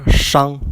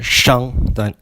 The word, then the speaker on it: Shang: The SH would be pronounced like the Shang dynasty instead of the Shang dynasty.